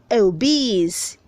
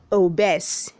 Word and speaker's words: obese: where 290 says obese say obese don't say oh bes where 291 says one